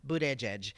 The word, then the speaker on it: Buttigieg: out gay presidential candidate Pete Buddha judge but I call them bootie judge booed edge edge like he has it on a thing phonetically sounded out in his office Buddha edge and I you know